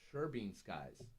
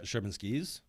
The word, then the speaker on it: Sherman Skis: from this company called Sherman Skies. It's Sherman Skies, right? Sherman Skies? Is that how you pronounce it? Sherman Skies? Sherman Skies, yes. Yeah. Sherman Skis? Sherman Skis? There's no E at the end.